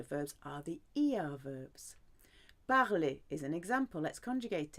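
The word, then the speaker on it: parlent: Il, elle, on parle. Nous parlons. Vous parlez. Il, elle parle. Silent E-N-T.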